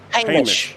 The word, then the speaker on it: Hamish: I called him Hamish, and finally one day somebody calls him Hamish, and I'm like Hamish, and he's like, well, yeah, that's actually how you pronounce my name. I'm like, you let me work together with you for a year? Exactly. Yes, a year. An entire year he let me pronounce his name wrong. So it's Hamish. Hamish, yes. And he's Australian. So Hamish.